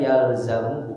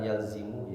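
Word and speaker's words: يلزم: yang mesti bagi dirinya ini bacanya yalzamu bukan yalzimu ya fiil madinya lazim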